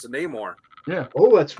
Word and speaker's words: Neymar: And he got to pick and he and he picked Neymar. And listen to how that's pronounced. It's not Neore.